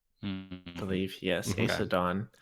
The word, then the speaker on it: Aesudan: Paul, how do they say it in the audiobook? Elliot was very close. As far as I remember from the audiobook, they say Aesadan. I believe, yes, Okay. Aesadan.